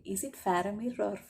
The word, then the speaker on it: Faramir: I forgot how to pronounce his name. Is it Faramir or Faramir? Faramir, sorry about that.